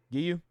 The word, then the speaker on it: Giyu: Is it Giyu? Gayu? How you say his name? Water Hashira. Giyu.